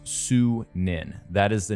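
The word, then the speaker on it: Sýnin: Darby confirm on Twitter as well that it's pronounced su Ninh that is the name of our Raven companion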